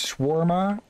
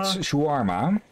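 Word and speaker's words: shawarma: I I think the the proper way to say that English is swarma like in Dutch it's called shuarma yeah with an O and no W it's kind of funny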